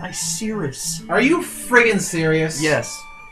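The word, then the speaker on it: Icirrus: hear the Team Rocket battling music it's not Icarus it's pronounced I serious are you freaking serious yes damn it Pokemon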